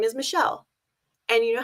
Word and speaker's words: Michelle: gets mispronounced so often you know what gets mispronounced even more than that shell you know how many times i've gotten shelley chalet chell like okay whatever your